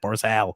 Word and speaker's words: Barzal: i've got two l's on here it's matt barsal oh my god holy come